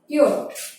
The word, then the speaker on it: yacht: আচ্ছা, তারপরে হলো ইয়ট, YACHT, ইয়ট। দেখো YACHT, ইয়ট। এখানে সির উচ্চারণটা হবে না।